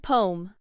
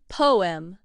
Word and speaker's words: poem: In American English, the two syllables are smoothly blended together into a single sound spoken as one syllable and so sounds like poem.